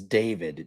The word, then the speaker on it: D4vd: to the artist and that's pronounced as David D4 VD.